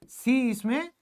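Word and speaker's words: science: तो क्या बनेगा भाई देखिए जो सी है वो साइलेंट रहेगा अगर वो एस के बाद आया तो अगर आप ये चीज याद रखोगे तो यह क्या होगा साइलेंट होगा सी इसमें होगा जैसे एस के बाद सी आया तो यह साइलेंट हो गया साइंस बन गया एस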